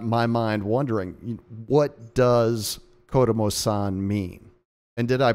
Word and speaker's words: Kodomosan: name, it got my mind wondering, what does Kodomosan mean? And did I pronounce that correctly? You did. That's good. That's fine. Kodomosan, sure.